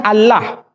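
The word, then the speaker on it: الله: Tidak ada seorang pun di kalangan masyarakat Timur Tengah ketika menjumpai istilah alif, lam, lam, ha, dibaca Allah. Tetapi mereka serempak menyebutnya dengan pronunciation Allah. Menyebut dengan sebutan Allah.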